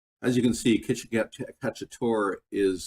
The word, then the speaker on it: cacciatore: As you can see, chicken cacciatore is spelled T-O-R-E on the end.